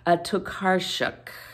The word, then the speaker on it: Tokarczuk: Somebody told me how to pronounce this. I'm so sorry. I should have practiced. Tokarczuk.